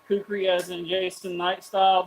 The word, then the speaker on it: kukri: But how do you pronounce it? Cherokee? Kukri.